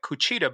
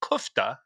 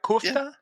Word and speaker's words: Kuchta: this, but some people look at your name and they'll think it sounds like Kuchta, but it's Kuchta. Did I pronounce that right? Kuchta?